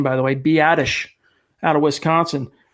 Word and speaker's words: Biadasz: I finally figured out how to pronounce that name, by the way, Biadasz, out of Wisconsin.